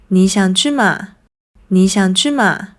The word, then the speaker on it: 嗎: By the way, I noticed that although they do use the question particle “嗎”, it’s often pronounced at a lower pitch. So “你想去嗎？Do you want to go?” might be spoken as “你想去馬？”